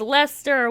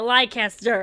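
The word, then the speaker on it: Leicester: over zombie don't say no it's lester with you spelling it lycaster this message brought to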